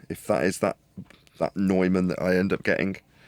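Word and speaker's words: Neumann: to that video and George Harrison does pronounce it like you what nyman yes I was pronouncing it wrong I was pronouncing it the way it's spelled we say Newman here anyway we'll see if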